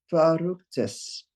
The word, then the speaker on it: verrücktes: Verrücktes. You're still sounding it like a V. It's a F.